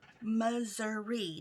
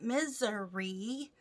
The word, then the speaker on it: Missouri: and i live in the state of missouri moseri not misery like some people like to pronounce it we even had a